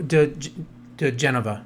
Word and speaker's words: diGenova: And So, that is Joe di Genova. Is that how Yeah, that's how you pronounce it.